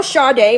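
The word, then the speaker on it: Sade: putting down now girl do you know shade Moren are you familiar with the singer shade it's spelled s a d she's a um she's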